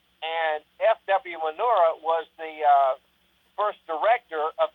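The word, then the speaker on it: Murnau: I thought you said manure. But yeah, I know you're talking about, yeah. Well, it's spelled M-U-R-N-A-U, Manura.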